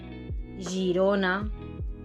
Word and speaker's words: Girona: Por lo tanto, la G delante de la E o de la I y la J delante de cualquier vocal se pronuncian J. Así, por ejemplo, tenemos germà, Girona, Janoll, Jutge, Joguina, ¿no? Fijaros en la diferencia. Uno es un sonido sordo en español y el otro es un sonido sonoro.